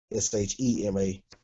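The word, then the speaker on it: שמע: See, this ayin doesn't make a sound, but it's carrying the sound from the mem.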